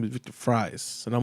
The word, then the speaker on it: Fries: Instead of calling him Victor Freeze, his name is Victor Fries, and I'm like, what the fuck is going on They here? actually pronounce it as fries.